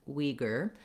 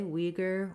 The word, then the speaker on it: Uyghur: We have first syllable stress in the American English pronunciation, Uyghur. So you would say it that way, Uyghur, Uyghur Muslims, etc.